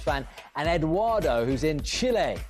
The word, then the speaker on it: Chile: Let's go to the USA and speak to Mark, who's a Forest fan, and Eduardo, who's in Chile. Chile, that's how you say it, Clinton, not Chile.